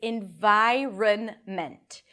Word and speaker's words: environment: The first syllable is in, lacks I, and then an N, in, then vi, a V sound and the long I as in my.